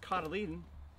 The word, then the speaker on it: cotyledon: The cotyledon, it's pronounced cotyledon, that's the middle part of the seed.